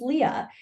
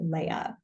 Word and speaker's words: Leah: my name correctly uh my name is Leah and my manager pronounced it Leia it's actually one of